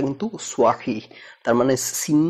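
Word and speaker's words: صحيح: এবার আসি সোয়াহি উচ্চারণ, যেমন সিন সোয়া, যেমন সহি সাহি এরকম বলবো, কিন্তু উচ্চারণটা কিন্তু সোয়াহি, তার মানে সিন না সোয়া, তো সিন আর সোয়ার এই পার্থক্যটা আলাদাভাবে উচ্চারণ করতে হবে।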